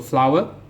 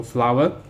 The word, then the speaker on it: flour: pronounced as flower so it's homophones with the plant flower so it is the same pronounced pronunciation is the same with flower f-l-o-w-e-r so make into flour in a factory so flour you need so this